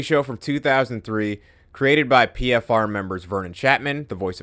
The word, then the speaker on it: PFFR: with Brooklyn Art Collective pfr pronounced with only one f yeah pfr started in